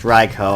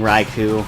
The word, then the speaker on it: Raikou: Yeah, apparently it's pronounced Raikou. I've been saying Raikou.